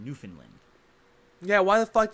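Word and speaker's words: Newfoundland: part of Canada I've ever been to is New Foundland which is actually pronounced newfinland yeah why the did you say New Foundland why why you do that it's proun Newland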